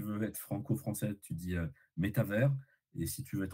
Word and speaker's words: métavers: Ouais, Euh, En français, il faudrait dire métavers. ok. Métavers, méta avec un accent sur le premier et un S à la fin, comme univers.